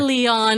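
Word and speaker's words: Léon: How do you pronounce that? Leon? Leon. Or Leon if you want.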